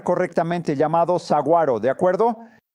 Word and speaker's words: saguaro: Vi rocas y vi algo que me tomó un tiempo pronunciar correctamente, llamado saguaro, ¿de acuerdo? Aunque veo una G ahí, nunca la pronuncio correctamente.